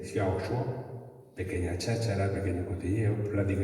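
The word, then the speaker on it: 小说: Consiguió en fin, Linchu, que la novela en chino se dice Xiaoshua.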